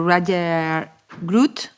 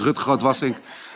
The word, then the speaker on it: Rutger Grootwassink: Now we are going to hear to Roger Groot. Sorry. No. No problem at all. It's quite hard for non-Dutch citizens to pronounce my name right. My name is Rutger Grootwassink, Deputy Mayor from Amsterdam.